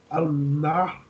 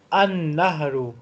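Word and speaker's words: النهر: Al-Nahru? An-Nahru. Lam is silent because there is Shadda on Noon.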